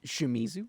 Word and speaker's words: Shimizu: Can never pronounce it. Shimizu.